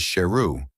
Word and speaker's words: Sheru: He also found out that he had mispronounced his name wrongly, and his actual name is Sheru, which means lion.